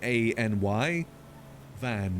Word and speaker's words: Enevun: The way they always tell people to pronounce it is basically, you know, any as in a n y van, which is v a n.